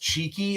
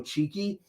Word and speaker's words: Chiqui: looking up his work it's pronounced cheeky like you know cheeky but it's c-h-i-q-u-i and they've called you